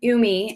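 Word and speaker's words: ume: have lots of stamina so it's spelled u-m-e umi and you'll find it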